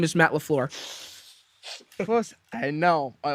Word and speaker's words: LaFleur: Matt Fleur. No, it's Matt LaFleur. It's LaFleur.